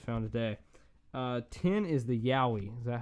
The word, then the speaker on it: Yowie: these I just found today 10 is the Yowie is that how you pronounce it right yes yeah in that just